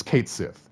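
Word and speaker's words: Cait Sith: and and the official Twitter finally said it's Kate Sith it's been Kate Sith this entire time even though there's like Mania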